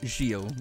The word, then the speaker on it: Zheal: no it's it's Zeal and some people say Zeal which is always cool gotta say though I